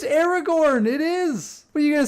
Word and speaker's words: Aragorn: hold up arrow yeah it's Aragorn that's how you pronounce it it's Aragorn it is what you